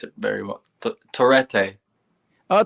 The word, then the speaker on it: Torete: I don't know how to pronounce it very well. Torete. Oh, Torete.